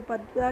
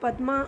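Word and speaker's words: পদ্মা: माना जाता है तो पद्दा के नाम से जो है पद्दा इसको बोलते हैं तो पद्मा जो है हम लोग लोग प्रोनाउंस करते ले किन बंगोली लोग इसको पद्मा ही बोलता है पद्दा ही बोलता है ठीक है तो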